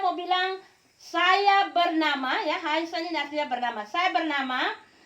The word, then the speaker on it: heißen: Sekali lagi B ini B kaki panjang, jangan bacanya B tapi bacanya dia S. Contoh heißen.